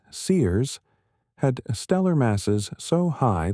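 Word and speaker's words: CEERS: One set of galaxies discovered in the JW ST ce survey, pronounced Sears, had stellar masses so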